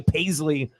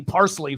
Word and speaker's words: Paisley: So, she still has kind of a, foreign accent, and she couldn't really say Paisley. So she called Paisley Parsley for a little bit until I had to explain to how to pronounce her name, which is pretty funny.